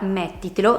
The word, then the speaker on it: mettitelo: Chiedimelo, mettitelo. La parola mettitelo si divide in 4 sillabe, met, ti, te, lo, e l'accento cade sulla quartultima. Partendo a contarle dal fondo